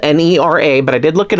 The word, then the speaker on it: Nera: it because it's spelled n-e-r-a but I did look it up and it is Nera is how to pronounce the name um but anyway this